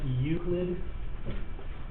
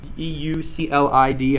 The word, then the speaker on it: Euclid: is a Greek mathematician by the name of Euclid. That's how you pronounce that, Euclid. E-U-C-L-I-D.